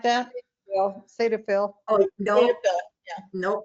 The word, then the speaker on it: Cetaphil: called, it's hard to pronounce, Ceflatil, something like that. Cetaphil.